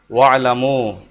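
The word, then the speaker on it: وَاعْلَمُوا: ওয়ালামু আর তোমরা জেনে রাখো, ওয়ার কারণে এখানে হামজার উচ্চারণ হবে না।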